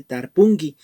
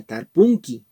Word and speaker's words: tarpunki: Como podemos ver, la terminación es en inki, que dice tarpungi, es esta de acá. Y de igual manera, para pronunciar, no se pronuncia tarpunki, sino se dice tarpungi.